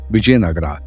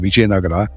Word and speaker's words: Vijayanagara: the kings of bisnaga bisnaga was the way they pronounced viagara and much of the